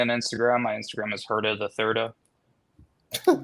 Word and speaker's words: Herda the Thirda: Because I'm Herda the Third, so it's Herda the Thirda.